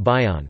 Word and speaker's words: bion: Steele in 1958, possibly originating from the technical term bion, pronounced bion, from ancient Greek, bios bios, meaning unit